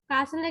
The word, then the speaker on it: castle: castle එකේ T.